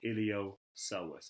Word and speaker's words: iliopsoas: And together they're called iliopsoas. It's spelt with a P because psoas has a silent P in it, so iliopsoas is spelled.